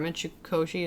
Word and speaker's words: Mitsukoshi: Japan in the store, Mitsukoshi, is that how you say it? Yeah, Mitsukoshi.